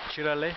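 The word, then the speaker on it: Çıralı: So here we are in Cirali, as I've just found out it's pronounced.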